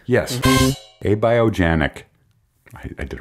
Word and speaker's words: abiogenic: million times aogen genic is it it's just abiogenic yes a biogenic I did it right AO genetic a biogenetic